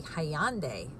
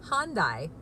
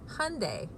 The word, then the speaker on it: Hyundai: I think they say hi on day and in here in the states we say Han died but the pronunciation is Hyundai it rhymes with Sunday so I'm calling this